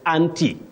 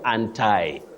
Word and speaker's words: anti: Now, that prefix, you say anti in what we call received pronunciation. Received pronunciation is the standard form of British pronunciation. You simply say anti. But in American English and some of the fashionable soundings, you may hear of anti.